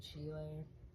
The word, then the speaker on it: Schiele: I'm sure a lot of people know him, or it could be pronounced Schiele as well, but my teacher said Schiele.